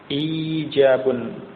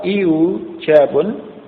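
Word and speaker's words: إيجاب: Ijabun. Nah, ini diucapkan orang Arab seperti ini, ijabun. Nah, kalau iujabun tidak diucapkan oleh orang Arab.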